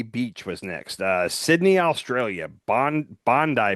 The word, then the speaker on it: Bondi: Bondi Beach is how they pronounce it.